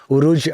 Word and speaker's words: Urooj: Please welcome the incredibly funny and sharp Urooj Ashfaq.